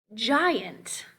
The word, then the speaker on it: giant: soft g like gentle giant giant once again soft g scent there's our one